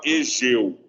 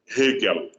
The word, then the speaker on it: Hegel: Nunca fala Egeu. Nunca na vida. Nunca fala Egeu. Porque é um nome alemão, certo? Você pronuncia o H, ele tem um som meio disfarçado de R, né?